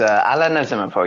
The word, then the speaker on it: Alla Nazimova: And why don't we get started with Alla Nazimova? Is that the right pronunciation, first of all? I don't want to get that wrong. Yes, it is Alla Nazimova. You nailed it.